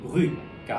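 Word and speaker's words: brut: 요거 같은 경우에도 이제 뭐 브리라고 불리는 이유가 프랑스어는 기본적으로 자음이 단어 끝에 오게 되면은 발음을 안 해줍니다. 근데 요거 같은 경우에는 또 예외적으로 이제 브루이트 하면 살짝 그 T 발음을 내주는 게 올바른 발음입니다.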